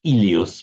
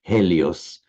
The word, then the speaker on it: Helios: So, the Greek word Helios in modern Greek, Elios, but classical Greek, Helios, meaning the sun is an helotrope, for example, is from from from that same same root.